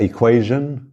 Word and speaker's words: equation: xa xa shan já equation t o n mas se pronuncia como um j ou um G Jean na exponenciação em